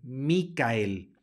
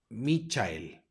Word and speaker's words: Michael: y la e tenemos la c segui de una H que no es una H va a sonar como K por lo tanto se pronuncia micael mikael lo vayan a decir Michael o Michelle mikael luego en la siguiente